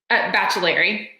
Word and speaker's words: Baccellieri: Baccellieri.